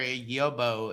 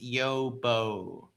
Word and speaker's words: yobbo: Uh uh uh um the word you mispronounced earlier yobo is most pronounced yobbo.